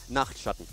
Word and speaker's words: Nachtschatten: I pronounce it first for you. Nachtschatten.